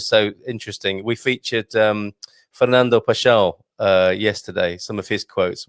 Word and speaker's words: Pascoal: So it's Pascoal. I've pronounced it all wrong. Pessoa, yeah. Pascoal, Yeah, okay.